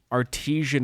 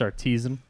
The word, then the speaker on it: artisan: It was like a artesian market for it had I think it's pronounced artisan.